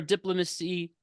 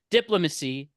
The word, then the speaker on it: diplomacy: He simultaneously pressed for diplomacy. Sorry, diplomacy. Let's pronounce it. Diplomacy. Yeah, like diplomat.